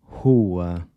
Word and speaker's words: rua: So the “r” is pronounced like the “h” in “hot” when it comes at the beginning of a word.